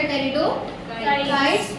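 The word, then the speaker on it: Pteridophytes: तीसरा हम पढ़ेंगे टेरिडो यहां पे ना पी साइलेंट होता है। ठीक है? तीसरा आएगा टेरिडो। तीसरा आएगा टेरिडोाइट्स।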